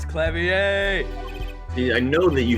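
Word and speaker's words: Klavier: again uh Machi toai our suspect fortisimo it's clavier I know that you said K wrong the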